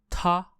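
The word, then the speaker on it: 她: in Chinese very interesting the pronunciation of he and she are exactly the same although the writing is a little bit different so he or she in mandarine Chinese are both pronounced as ta T So to say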